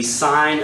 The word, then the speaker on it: sine: sentence is highlighted the sign of an angle pronounced sign and abbreviated SI n is the ratio of